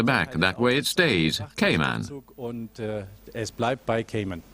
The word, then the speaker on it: Cayman: It's actually Cayman, not Cayman. That's why we use the English spelling on the lettering at the back. That way it stays, Cayman.